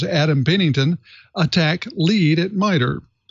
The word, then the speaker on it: ATT&CK: a att and ck that's pronounced attack framework from non-profit corporation